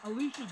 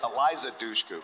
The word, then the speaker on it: Eliza Dushku: Alicia Dukes. Am I pronouncing that right? I'm not going to give you Alicia Dukes. It's Eliza Dushku.